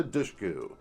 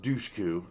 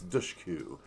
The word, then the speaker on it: Dushku: Wrong Turn starring Eliza Dushku that's how you say it because it's she's corrected a lot of people it's not Dushku it's Dushku it's like push but douche so anyway if anyone's